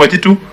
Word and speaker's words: Waititu: I think we shall excuse now, Honorable Waititu, and let's hear the Kenya National Commission on Human Rights. That's how it's pronounced.